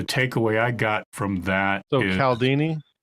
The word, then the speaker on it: Cialdini: i got from that caldini like chaldini uh it's yes pronounced chaldini cia yeah but people